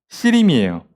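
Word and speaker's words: הסירים: 이 손 밑에서 가시나무 타는 소리라고 돼 있는데 왜 이렇게 돼 있냐면 솥이라는 단어랑 가시나무라는 단어가 발음이 유사합니다. 솥은 핫시르이고 가시나무는 핫시림이에요.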